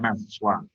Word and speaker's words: Naswa: Berarti nggak pakai II, jadi bacanya Naswa.